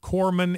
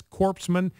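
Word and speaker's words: corpsman: Pronounced the word corman as corpseman, not once, but twice.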